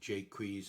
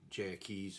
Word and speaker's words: Jaques: Well, since the 19th century, people are pronouncing that poor guy as Jaques and Jakes and all sorts of things.